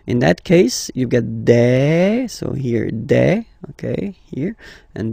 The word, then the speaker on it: des: Okay, and then the plural form, des. All right, here, s, you pronounce it like a.